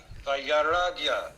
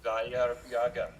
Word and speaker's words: Vairagya: Vairagya. Vairagya. V-A-I V-A-I-R-A-G-Y-A.